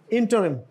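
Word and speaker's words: interim: इंटीग्रल एंड व्ट इसस next इंटरम नट इंटरम इंटरम this ल्स यूज ल इंटरम relief the जज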